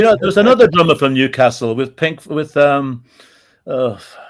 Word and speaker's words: Newcastle: Newcastle. That's the proper pronunciation.